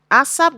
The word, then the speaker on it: Asaph: Ashayar, which means a song or psalm of Asaph, who is, people pronounce his name as Asaph. It's Asap.